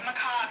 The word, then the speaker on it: macabre: You're just you're a macabre uh person who's interested in death. Macob is how you pronounce it.